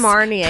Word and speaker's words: Marnier: Marnier.